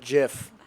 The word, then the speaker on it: GIF: It's pronounced GIF, not GIF. It's not. Oh, man. No matter how many times you say it, it's always going to be soft G.